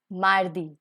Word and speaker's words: mardi: french is known as landi landi tuesday is mardi mardi wednesday is may friday is let's go